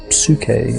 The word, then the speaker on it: psyche: given your name in the name was Sookie and Greek psyche is how we pronounce it now and the word means